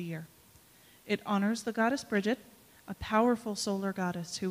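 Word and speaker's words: Brigid: I come from a Scots Gaelic background, so I say Bridget because that's how my people say it, but you'll hear Bridget in this ritual too. They're both correct, and there are other pronunciations as well. I think the one that is not accepted is Brigitte.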